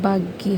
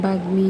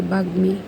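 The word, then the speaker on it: বাগ্মী: কিন্তু এটার মধ্যে কিন্তু আমরা শেষে ম উচ্চারণ করতে হবে। এই যে বাগমি।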